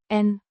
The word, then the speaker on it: en: Pronounced. En. A short E. sounds similar to the E in bed.